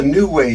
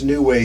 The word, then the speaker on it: NuWay: lagging's not too bad this is called a new way stove and this is what i've got installed